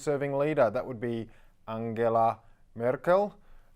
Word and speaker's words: Angela: she's Europe's longest serving leader that would be Angela Merkel not Angela okay Narendra Modi is coming from India he